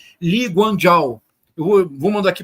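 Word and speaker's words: Lee Kuan Yew: estado moderno de Singapura que se escreve eu vou vou mandar para vocês como se escreve mas se pronuncia li guano eu vou vou mandar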